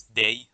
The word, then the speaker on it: dig: the word that looks like a dig is pronounced as day for some reason but normally the swedish word